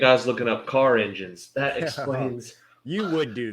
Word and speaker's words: Enjin: the Tema engine here engine which is spelled e n j i n as you can probably